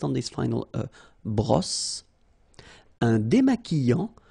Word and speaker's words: démaquillant: Un démaquillant. So we've got this Q-U, but then U is not pronounced.